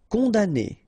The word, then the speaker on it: condamné: Condamné, okay, so it's really strange because this M here, well, technically it's not pronounced.